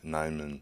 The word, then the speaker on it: Nijman: so my name is neyman j silent nightman is a dutch last name they don't pronounce j in that language and first name is